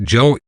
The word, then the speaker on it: Yo: But she pointed out that Yo, pronounced Joe, rhymes with cielo, which means sky in Spanish.